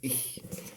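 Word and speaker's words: ich: بالالماني اخ ناخد بالنا هي اخ بننطقها كده اخ يعني انا انا انا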